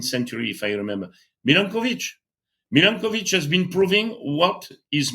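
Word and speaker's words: Milanković: His name was uh Milanovich 19th century if I remember Milanovich Milankovich has been proving what is making the climate and it's uh it's uh uh how to say it.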